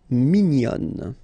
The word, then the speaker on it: mignon: And then another example, mignon will become mignonne.